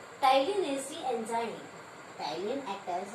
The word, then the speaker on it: ptyalin: Salivary gland secretes the enzyme ptyalin. Here P is silent. Ptyalin is the enzyme.